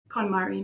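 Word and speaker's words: KonMari: Kmari Method.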